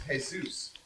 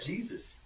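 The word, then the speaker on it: Jesús: is Jay Jay Sanchez his real name is hey Zeus some people pronounce that Jesus we're gonna call this thing Peter and Jesus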